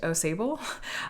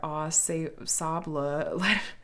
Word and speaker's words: Au Sable: I was pronouncing it like it was one word, like Aussible or something, and it turns out that no, it's named after the O Sable or Au Sable.